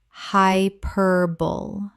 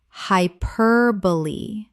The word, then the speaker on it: hyperbole: Common mispronunciation, hyperbole. Correct pronunciation, hyperbole. Four syllables. The E at the end is pronounced. This surprises almost everyone.